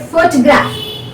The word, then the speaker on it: photograph: and now you take photograph photograph photograph photograph now the first rule photograph we say photograph so the first syllable is stressed so this is all